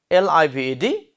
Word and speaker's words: lived: In the same way, another word, L-I-V-E-D. Yes, try it. Good. Lived. Again, lived. So, that pronunciation is duh.